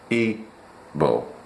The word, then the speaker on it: Igbo: It is pronounced Ebo.